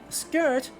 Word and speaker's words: skirt: expect in old english skirt is a borrowing from old norse it preserves an sk sound where uh old english